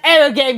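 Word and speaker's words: エロゲ: It's pronounced arrow game, you bitch!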